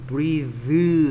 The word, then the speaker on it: breath: 번데기 발음이 아니고 낚싯바늘 breathe 라고 the 라고 혀에 떨림이 있어요. 근데 이가 없어지면 얘는 breath가 됩니다. breath. th의 발음이 뭐가 된다? 무성음이 됩니다.